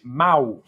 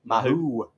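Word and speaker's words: Mahou: Which month did we launch Mao? That is the right way to say it. I'm saying it correct. It is Mao, isn't I'd it? say Mao. Mao, yeah. I think some people say Mahoo.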